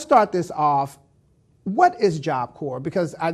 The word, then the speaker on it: Corps: Cincinnati Job Corps and I just learned today that that S is silent because I kept saying job course so if you're doing